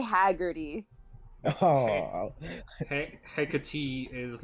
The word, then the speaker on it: Hecate: You, I believe, will be Hecate.